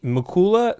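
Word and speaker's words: Mikulza: Hello, my name is Mucula spelled. Last name M I K U L Z A. The Z is silent.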